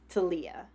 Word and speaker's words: Talia: get into that um everybody keeps pronouncing italia i'm assuming that's because she's british because i know in america it would be pronounced taliyah um and that's another